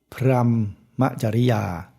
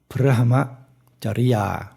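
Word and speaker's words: พรหมจริยา: ใช่ มั้ย ตึ๊บ อะ พรัม จริยา ที่ เรา จะ ชอบ ออก เสียง กัน อย่าง นี้ แต่ ถ้า ออก เสียง ให้ มัน ถูก ต้อง มาก ขึ้น ก็ จะ ออก เสียง เป็น อะ พหม จริยา นะ ออก เสียง ครึ่ง เดียว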